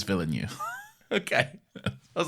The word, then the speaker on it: Villeneuve: I know, I do, but like, hang on, how did you pronounce it? I did that purposefully. Okay. I know it's Villeneuve.